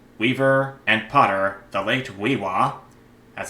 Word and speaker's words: We:wa: Native American fiber artist, weaver, and potter, the late Weewa, as it's pronounced right here, as a Thamana.